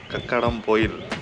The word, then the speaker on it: Kakkadampoyil: This is called Kakkadampoyil.